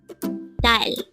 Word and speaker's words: 딸: Dal. Again, it's dal. This pronounces as one syllable word.